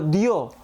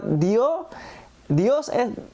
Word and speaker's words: Dio: al final, sino que el rabino especifica que los sefaradim pronuncian la palabra como Dios, porque a diferencia de los españoles castellanos que la pronuncian con la S al final, una S es símbolo